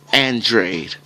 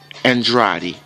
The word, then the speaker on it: Andrade: Erislandy Lara versus Demetrius Andrade. Or Andrade. You can pronounce it both ways.